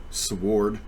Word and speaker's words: sword: So this is part 2, becoming the sword. I know people who say that. Instead of sword, they say sword. They pronounce the W.